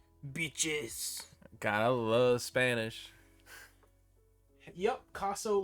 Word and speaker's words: Kossow: Yep, Kossow like Picasso. My 9th grade football coach said Picasso without the P. And he was awkwardly accurate. But spelled with a K.